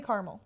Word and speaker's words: caramel: they are absolutely fantastic how do you say it I say Carmel that's what I that's what I grew up saying then I came down